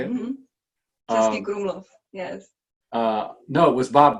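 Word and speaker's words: Český Krumlov: Jim had told me about, and if I pronounce it correctly, Chesney Brumlov, is that how you say it? Mm-hmm. Chesky Krumlov, yes.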